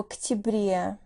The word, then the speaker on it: октябре: В октябре. Ноябрь. В ноябре. Декабрь. В декабре. Notice how the stress shifts sometimes and causes vowel reduction. Октябрь, but в октябре.